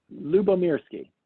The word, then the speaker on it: Lyubomirsky: we just interviewed Sonia limber s Kayla pronouncing that right Luba Mir ski yep and Larry can do